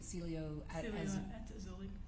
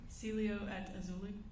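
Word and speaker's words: Cielo Azul: the Celia how do you say it again Celio at auli say it one more time Celio at auli okay was that the name of the apartment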